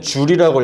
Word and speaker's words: 줄: 우리가 이래서 얘기하는 단위는 요제 이라고 쓰고 읽을 때는 줄이라고 읽어줍니다 이렇게 예 그다음 우리 심